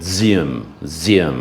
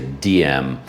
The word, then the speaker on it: Diệm: his name is D-I-E-M, but they always pronounce it like Zim or something like that. I always say DM because I see the letter D, the first letter in my name.